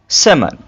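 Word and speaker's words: salmon: और मिसाले देखते हैं जहां पर एल साइलेंस होता है could should talk walk walk half सेमन सेमन तो आपने इन मिसाल में देखा कि एल कैसे साइलेंस हो रहा है ठीक है एल को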